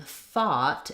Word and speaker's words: thought: for you for example in thought it has the ah vowel so there we have the th sound the ah and the t sound throughout um is just